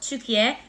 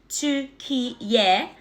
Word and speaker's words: Türkiye: While English speakers have historically referred to the country as Turkey, it has been spelled and pronounced Türkiye, Türkiye, in Turkish since the establishment of the modern Turkish Republic in 1923.